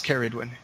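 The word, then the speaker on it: Ceridwen: I've been pronouncing it Caridwen because her shortens to carry. Is it really? I've been saying Sergewin. Well, I was saying with a soft C for some reason. Caradwin, I think. Yeah, it's Caridwin. All right.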